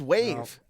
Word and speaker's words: WAV: wav i wanted wavy it's wave it's wave wave lav it's spelt wav wave sounds like some mandela